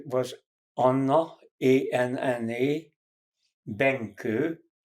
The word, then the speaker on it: Benkő: Her name was Anna, A-N-N-A, Benke, B like boy, E like Eve, N like Nancy, K like Kathleen, O with two accents on it, pronounced Ö.